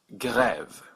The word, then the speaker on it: grève: So this word is pronounced grève with a hard G, g, grève.